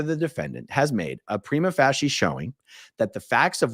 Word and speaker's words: prima facie: By the way, I did actually check the pronunciation of that word before I did this video, and it said prima facie, which means taking something